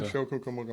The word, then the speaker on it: Rancho Cucamonga: Rancho It's Cucamonga, Rancho Cucamonga, most definitely. and I can spell it too.